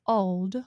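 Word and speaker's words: Ald: So, they chose this well-known elderly woman named Mrs. Old, spelled A L D, like old lung sign.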